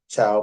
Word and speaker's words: Thiaw: That's Maria Chow, and the name is pronounced Chow, but it's spelled Thiaw.